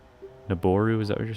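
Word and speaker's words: Nabooru: So, the O in Niburu is a long O sound. or the oo. A long o. I thought that's what I said. Naboru.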